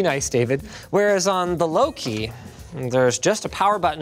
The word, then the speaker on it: Louqe: So even though Loki, I've been told it's pronounced, did go and build